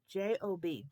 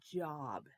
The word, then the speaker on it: Job: it is called job with a nice long o in there job can you say job job good job okay two of the same numbers a 3 and a 3 33 job 33 4.